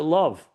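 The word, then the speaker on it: לב: Chapter called Lev, heart. Or you can pronounce it love.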